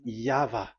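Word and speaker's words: Yahweh: Pronunciation is equal V. It is V. Y H V H. So it is YAHVAH.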